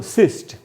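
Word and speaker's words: cyst: तो एक ही सिलेबल का वर्ड है और इसमें वाई पहले सिलेबल में आ रहा है, इसलिए इसको छोटी ई के रूप में पढ़ा गया।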